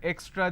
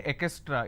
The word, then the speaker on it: extra: A lot of people mispronounce this word extra. They say ekestra. It's not ekestra.